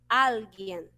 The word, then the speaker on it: alguien: Em espanhol, vamos falar alguien. Aí sim, a sílaba, a tonicidade vai lá para a primeira sílaba.